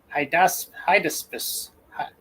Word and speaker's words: Hydaspes: How do you pronounce it? Hydaspes. Hydaspes.